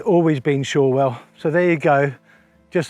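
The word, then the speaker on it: Shorwell: and she told me it's sure well not choral and it's always been shawwell so there you go just that some locals pronounce it shorel so it's either all well another half an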